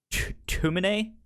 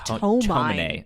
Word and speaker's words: Tomine: So let's talk a little bit about the adopted brother, Issei Tumine. I believe is how you say his name. They put an extra O in it here on Wikipedia. It says just Tomine.